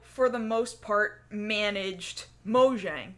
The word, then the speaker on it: Mojang: So Notch was the CEO of Mojang, or some people, I guess, pronounce it Mojang, or some people pronounce Mahjong. It's pronounce it. You know what? You know what? Mojang. Mojang. I'm gonna spell it like Mojang. It's spelled Mojang. I'm gonna pronounce it Mojang. But it's a Swedish word, which makes sense because Notch is Swedish.